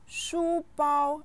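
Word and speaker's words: 书包: me sure sure sure shubao a school bag is another object found at school both syllables are set with the first tone listen shubao shubao supa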